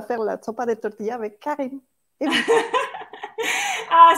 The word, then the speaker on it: sopa de tortilla: Et puis, una sopa de tortilla. Est-ce que je prononce bien, Oui, Cara?